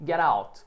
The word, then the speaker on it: get out: Get out. Aqui eu quero que você pratique esse link, essa junção do get out, get out.